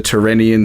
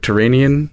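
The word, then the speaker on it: Tyrrhenian: airplane crash into the tyrannian sea I hope I pronounced that right turanian I've heard it both ways I think so yeah um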